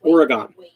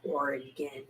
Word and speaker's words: Oregon: i think pacific northwest oregon oregon oregon looks like oregon county no it's oregon oh my god i